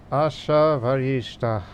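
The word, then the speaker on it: Asha Vahishta: Asha Vaishta.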